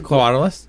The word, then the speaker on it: Quetzalcoatlus: That's Quetzalcoatlus. I don't think it's a qua. I think it's just a k. Spanish style.